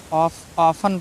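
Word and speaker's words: often: है, तो इसको क्या किया हमने, टी को साइलेंट किया, लिसन पढ़ा। टी ई एन है, ऑफन पढ़ा, ठीक है।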